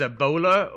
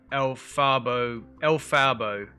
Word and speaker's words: Elphaba: looking person, and I think the name is Ebola, or, okay, no, it's Elphaba. Some strange name, I can't even pronounce it and it looks strange.